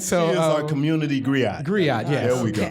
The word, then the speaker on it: griot: She is our community Girat. That's how you say it, right? Girat? Piper. Gerard. You know, the African person that goes around with the information. Wow, man, why you gonna pick a... Griot. Yeah, there you go, Griot.